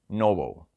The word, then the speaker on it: NOBL: 500 dividend Aristocrats ETF ticker symbol and O pronounced Noble because you know the